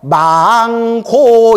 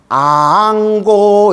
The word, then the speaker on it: 앙고: 근데 스님들 축원할 때면 꼭 망고 이러는데 그 망고의 망이 죽은 사람 축원하는 거 아닙니까? 이래서 내가 그냥 미치고 발작 뛰겠다. 내가 망고가 아니라 뭐예요? 그렇죠. 앙이에요. 앙고 이러는 거예요. 우러를 앙자.